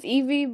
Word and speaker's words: Ivy: Hi, my name is Summer and my name is Eevee, but it's spelled like Ivy, but you say Eevee.